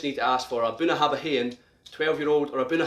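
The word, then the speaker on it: Bunnahabhain: how it looks it's bona habahin so you pronounce that buna habahen so if you want one of these 18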